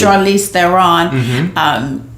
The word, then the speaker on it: Charlize Theron: And so Charlize Theron, did I say it right? Yes, absolutely. Charlize Theron, she did great as usual.